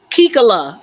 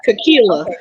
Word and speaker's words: Kikila: My Say now, name Kikala. That's how you say it. Kikila.